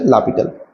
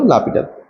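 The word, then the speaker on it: L'Hôpital: এটা হচ্ছে লাপিটালের নিয়ম, এল হসপিটাল লেখা হয় কিন্তু উচ্চারণটা হচ্ছে লাপিটাল, হসপিটালস রুল, ঠিক আছে, উচ্চারণটা হলো লাপিটাল।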